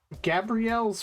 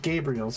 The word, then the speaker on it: Gabriel: Gabrielle's footlong shrimp? Or is it Gabriel's? Gabriel's footlong shrimp. Sorry. You know, I watched Gabrielle Dropout. And, you know, it's spelled Gabriel, but they always call her Gabrielle.